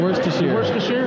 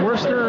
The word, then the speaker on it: Worcestershire: Worcestershire? There you go. It's not Worcester or anything like that. It's Worcestershire. The city is Worcester. The sauce is Worcestershire.